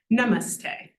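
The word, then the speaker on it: नमस्ते: the end so in Namaste we have n but then our middle syllable is actually mus and then T the vowel is also long so n is the only short one Namaste so we sort of build up in terms of the weightiness another one votti superpower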